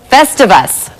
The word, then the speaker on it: Festivus: It rhymes with rest of us, thus Festivus. Festivus.